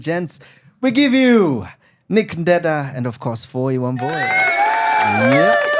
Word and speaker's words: Ndeda: On X, on Facebook, on Instagram, on TikTok, it's all the same at Nick Ndeda, NICKNDEDA, not Ndenda. Please, it's Ndeda. If it makes it easy, say it like Ndeda.